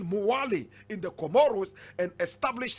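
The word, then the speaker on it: Mwali: the way to morally in fact correct pronunciation muwali in the comoros and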